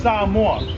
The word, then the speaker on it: Samoa: Yeah, so ladies and gentlemen, it's actually pronounced Samoa. We like to enunciate our vowels here, so everyone knows Samoa.